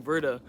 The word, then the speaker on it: Werther: the sorrows of young Verda um and also because it's German I do want to just point out that even though his name is it starts with a W it's pronounced with a V that is how German